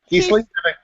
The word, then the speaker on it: Kieslith: Go ahead and pronounce it. I'm going to slaughter it. I can feel it. Kieslith?